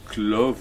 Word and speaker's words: Clov: est le père de Clove ou Clo, selon les prononciations, qui deviendra le serviteur de Ham.